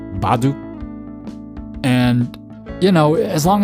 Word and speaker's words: baduk: ba ba ba and it ends up sounding like a p to a lot of people because people aren't used